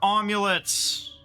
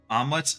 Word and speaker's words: amulet: We can equip more amulets. Woo! And we can get technique plus 4, which gives us 15 more attack. Omelets? No, amulets. It's pronounced amulet.